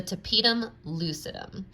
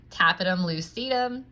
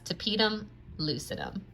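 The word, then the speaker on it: tapetum lucidum: for your pronunciation purposes the structure that I'm referring to is actually pronounced the tapedum lucidum so instead of pronouncing it in my Pittsburgh accent tap item lucidum you can make sure you pronounce it correctly as tapedum lucidum all right back to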